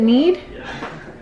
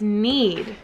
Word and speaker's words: knead: hands and then these is it neat is it why do i always say that okay sorry it's need every single video i literally say it wrong bye give them a